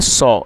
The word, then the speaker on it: saw: SEEC मतलब होता है देखना, और सेकंड फॉर्म है सॉ, SAW। और दोस्तों, इसकी जो सही प्रोनाउंसिएशन है वो है सॉ। तो आप इसको सा ना पढ़ें और इसे सॉ पढ़ना है।